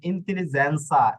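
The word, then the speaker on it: intelligenza: হইছে এই যে দেখুন ইন্তেলিজেনসা এটা কিন্তু ইন্তেলিজেন হয় নাই ইন্তেলিজেন সা হইছে এই যে দেখুন বেল্লেসা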